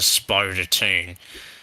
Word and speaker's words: Spodertoon: Spoder, because it's not spider, it's like like 2 O's, so Spodertoon.